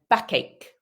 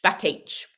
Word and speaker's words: backache: And then backache. We've got that cake sound again. So yeah, careful with pronunciation. I hear lots of H, backache, backache.